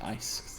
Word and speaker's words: IC: their Matrix and again it's pronounced ice it's the same concept